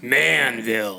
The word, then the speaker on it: Manville: make a rule that if you say Manville you have to say it like a man Manville yeah it's the Montage